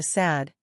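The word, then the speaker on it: Sudd: was the cutting through the Sad, as it is pronounced, or Sud as it is ordinarily written, the dense growth of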